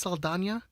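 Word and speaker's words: Saldaña: It's Saldana. Saldana? Because it has the Enye.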